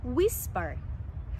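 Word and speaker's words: whisper: বলা কানে কানে কথা বলাকে ইংরেজিতে বলা হয় উইস্পার উইস্পার এটা ডব্লিউ দিয়ে শুরু হয় অনেকে এটাকে বলে ইজ নট রাইট প্রোনাউন্সিয়েশন আমরা এটাকে বলবো ফর এক্সাম্পল আই ওয়াজ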